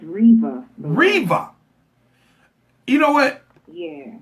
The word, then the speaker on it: Riva: So I'd like to welcome to the show Miss Riva. How you doing tonight, ma'am? I'm good. All right, the first thing I gotta ask, did I pronounce that properly? No, it's Riva.